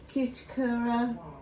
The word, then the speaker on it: Cuticura: I've got some of this, the cuticura, that's how you pronounce it, the mildly medicated body powder.